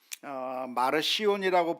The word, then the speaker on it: 마르시온: 마르시온이라고 불러도 되고 마르키온이라고 해도 되고 뭐 발음은 뭐 이렇게 저렇게 해도 되겠는데, 이 사람은 성경과 관련된 이단입니다.